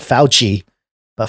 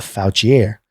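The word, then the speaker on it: Fouchier: is I mean it's it's spelled fo u CH I er so not foul Chee a foul Qi air when Ron am voucher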